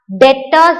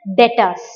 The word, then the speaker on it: debtors: we will discuss what is this should be pronounced as debtors. It is not debtors. D is silent there. There is B here, D-E-B-T. It is a debt. But don't pronounce it as debtors. It is debtors.